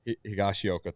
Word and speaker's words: Higashioka: On Lance's list, Nathan Eovaldi, Kyle Higashioka. I can't say his name. Sorry. Higgy. Yeah, Higgy for short. Yeah. There you go. Higashioka. Higashioka, thank you.